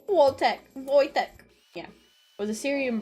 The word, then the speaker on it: Wojtek: Phonetically spelled Wojtek and pronounced as such. Wojtek.